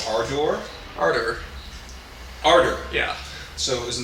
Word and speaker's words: Ardor: They have a new record out called Ardor. Ardor. Ardor. Yeah. So isn't that with an E then? A-R-D-O-R. Okay. Ardor. Kind of rhymes with harder, I guess.